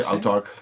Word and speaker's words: Autarkh: How do you pronounce it in English? Autarkh? I would say Autarkh, yeah. Okay. A-U-T-A-R-K-H. Yeah, yeah.